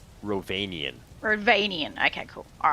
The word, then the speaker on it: Rhovanion: I'm going to try and pronounce it and you can correct me. Is it the realm of Ravenon? Ravenian.